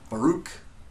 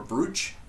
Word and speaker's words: Baruch: It's B-A-R-U-C-H, which is commonly mispronounced as Baruch or Baruch. It's Baruch, and every time she says it, she has to explain the pronunciation.